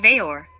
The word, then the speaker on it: Weor: veor which is pronounced veyor so the w is the v sound this w together with the remaining three letters ero a verb and word form veyor thus we have the